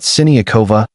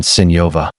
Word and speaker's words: Siniakova: On a lighter note, Siniakova settled a pronunciation debate, confirming that Siniakova is closer to the correct pronunciation than Siniova.